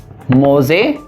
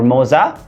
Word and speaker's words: Moza: So it is from Moza or Moza, M-O-Z-A or M-O-Z-A, Moza. Pronunciation are both correct.